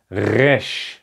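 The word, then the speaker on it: ריש: And this is exactly the R sound. So this is how you can learn to pronounce it. R, resh.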